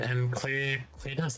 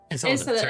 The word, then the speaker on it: Enceladus: You know anything about the is it Enclus? I don't know how to pronounce Latin names. Endless for Saturn. Dead moon. Ah, Enceladus. Enceladus.